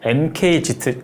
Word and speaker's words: MKZ: 보여주고 있는 중형 세단 mk 치트 mk 치 로 발음하는 게 좀 더 현대적인 것 같아요 이날 할인된 의 어떻게